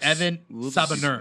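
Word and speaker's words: Evan Sabahnur: It's Evan Sabanur.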